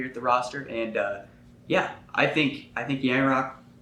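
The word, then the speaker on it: Calle Järnkrok: I'm looking over here at the roster, and I think Yanrock. How do you pronounce that again? Calle Yarncroke.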